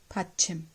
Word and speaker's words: 받침: Pa. This is pa, a, tha, chi, mu. Batchim. This is the way. 2 syllables, 1 and 2.